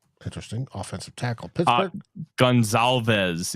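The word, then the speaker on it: Goncalves: 15, Indianapolis Colts, Matt Conclaves. Interesting. Offensive tackle. Pittsburgh. Gonzalez is how it's pronounced.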